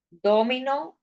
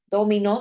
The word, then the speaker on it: dominó: dom ahora sí J dominó Sí porque ahí verdad cuando pronunciamos así sí porque ahí se se escucha que está acentuado en la última sílaba ahora bien si yo